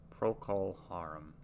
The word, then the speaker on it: Procol Harum: i spelled it wrong it's proc pro-kol harum pro-k pro-kil harem english rock band formed